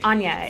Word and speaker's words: Anya: your name what introduce so it's Anya it's like it is yeah I double guessed